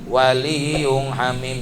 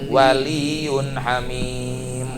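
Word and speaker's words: ولي حميم: Bacanya jangan waliyung hamim, jangan disalahin sama orang tilawah kiroah. Waliyun hamim ya.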